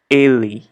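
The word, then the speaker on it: ele: reading obviously okay so in Portuguese he we say le le okay think about the letter e in the word hey again hey a le le le okay let's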